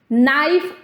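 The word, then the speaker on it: knife: जैसे नाइफ और साइकोलॉजी में के और पी साइलेंट होते हैं।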